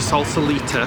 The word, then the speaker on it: Sausalito: I should really ask Google how you pronounce that. It's going to take us across the Golden Gate Bridge to Sausalito, that's how you say it, for a little